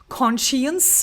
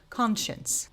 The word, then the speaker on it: conscience: And I know you may find yourself trying to say conscience or something like that. I've heard too many times. But it is actually pronounced as conscience meaning knowing what's right or wrong.